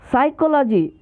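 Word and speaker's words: psychology: में डालता रहा है, साइकोलॉजी। शुरुआत इसकी होती है P से, पर इसमें इसके प्रारंभिक अक्षर को ही हम छोड़ देते हैं, P।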